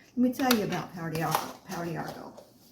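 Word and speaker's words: Pau d'Arco: And it's spelled P-A-U, let me see, P-A-U-D'-A-R-C-O.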